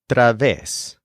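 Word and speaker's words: través: uses a new word Traves this is spelled t r a VES with an accent on the EES technically this is a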